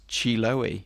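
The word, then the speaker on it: Chiloé: So I have just looked up how to pronounce that word, and it's Chiloe.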